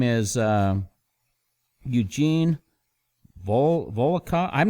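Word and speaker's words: Volokh: pull this up his name is Eugene Bull volcom I'm not sure how to say his last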